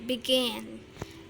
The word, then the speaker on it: begin: Kemudian begin itu begin, pengucapannya begin ya, penekanannya di suku kata kedua, maka harus didouble.